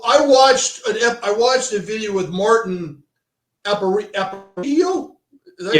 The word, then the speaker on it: Martin Aparicio: So I watched a video with Martin Aparicio. Is that how you pronounce his name?